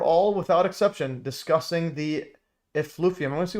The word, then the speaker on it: effluvium: They were all without exception discussing the elovium. I'm going to see how to pronounce this. Elovium. Elovium. Okay. So effluvium.